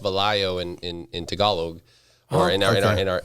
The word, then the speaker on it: Velayo: It's pronounced Valayo in Tagalog, or in our but most people pronounce it Vallejo in Filipino.